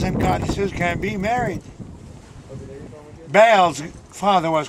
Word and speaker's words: Baal: Actually, the real name, the real pronunciation for it is Baal.